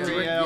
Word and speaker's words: Azrael: And I wrote it down because I have a horrible time with pronouncing words, so it's Azrael. Am I saying that right, guys? Azrael.